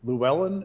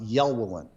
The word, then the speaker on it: Llewellyn: are we sure that i've heard that name pronounced llewellyn and i've heard it pronounced yell wolin ah you ever heard